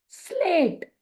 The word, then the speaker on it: slate: आप लोगों को बताई कि जब कोई भी शब्द ई से समाप्त होता है तो उसके पहले आने वाले स्वर का हमें नाम लेना होता है। इसीलिए एस का उच्चारण स, एल का उच्चारण ल, ए का उच्चारण ए होगा कि उसका हम नाम लेंगे, टी का उच्चारण ट और ई को भूल जाएंगे। SLAT हो जाएगा स्लेट, स्लेट, स्लेट यानी श्यामपट, जहां